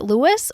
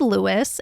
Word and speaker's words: Louis: begin let's talk about how we pronounce his name is it lwis or Louie well it can be both his proper name is Lewis and that's how he referred to himself but he was also